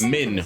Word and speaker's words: Min: this yeah and Min yes Min not Lin I said her name wrong Min you'll be asking